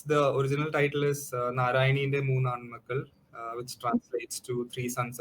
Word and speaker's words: Narayaneente Moonnaanmakkal: Uh, what's the what's the correct pronunciation? Because I'm So it's the original title is Narayaneente Moonnaanmakkal, which translates to Three Sons of Narayani in English.